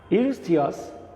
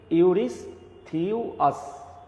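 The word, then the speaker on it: Eurystheus: ইউরিস্থিয়াস উচ্চারণটা দেখো ইউরিস্থিয়াস, হ্যাঁ, ভুল উচ্চারণ করা যাবে না, তাই তো?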